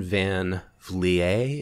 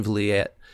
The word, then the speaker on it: Vliet: But so his real name is Don Van Vliet. Is that how you say it? Vliet? I've always said Van Vliet. Van Vliet. Okay. Americanized it. But yeah, Vliet.